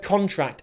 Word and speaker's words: contract: of here is that we put the stress on the first syllable. When we use the word contract as a noun, it's important that we stress the first syllable because we can also use this word as a verb, but then the stress